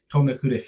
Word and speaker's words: Tomnahurich: Tomnahurich Hill is the proper pronunciation for the hill.